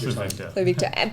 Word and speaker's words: Pluvicto: Can you pronounce it? Pluvicto. I haven't practiced enough. Pluvicto. That's Pluvicto.